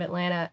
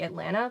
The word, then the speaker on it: Atlanta: pointed out to me we don't really say the T like it's not really Atlanta it's more just like Atlanta but it's not like